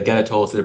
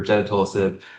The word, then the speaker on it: gedatolisib: I added the cutoff, but the gedatolisib or gedatolisib, pronounce it how you like.